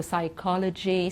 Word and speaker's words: psychology: know that okay then sometimes we have a silent p that's often a typical